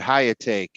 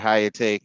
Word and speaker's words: Hyakutake: Comet Hyakutake, I think, came in, or Hyakutake, if that's how it's pronounced. Hyakutake.